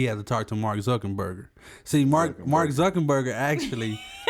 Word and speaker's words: Zuckerberg: Mark Zuckerberg. Like hamburger. Zuckerberg.